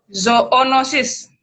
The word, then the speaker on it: zoonosis: Jadi Bacanya zo apa zoo? zoonosis, Bacanya zoonosis.